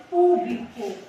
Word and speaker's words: público: palavra sempre tem acento tem a palavra aqui público Qual que é a sílaba mais forte que nós pronunciamos com mais intensidade o pu tá última penúltima antepenúltima Então